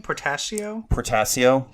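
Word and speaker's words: Portacio: Portasio.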